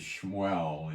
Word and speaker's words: Shmuel: go to 22 and Samuel his name is shmel in Hebrew they couldn't pronounce shuell so they uh come up with uh um Samuel you know go figure